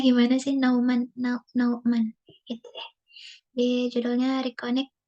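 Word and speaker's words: Nouman: Bacanya gimana sih? Nauman gitu ya.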